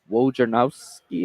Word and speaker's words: Wojnarowski: A lot of things being tweeted out by Adrian Wojnarowski, I think that's how you say it. Wojnarowski.